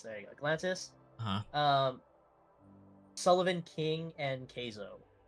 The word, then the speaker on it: Galantis: How do you pronounce it? Galantis. Galantis. There you go. Galantis.